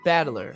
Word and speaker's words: Battler: get out of there battler is made up of the characters for fight in person and it's pronounced battler so he is a fight person he's literally battler as in fight person it's crazy enough that